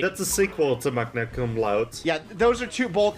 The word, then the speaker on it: magna cum laude: Is it Magnum Cum Laude or something? Magna Cum Laude.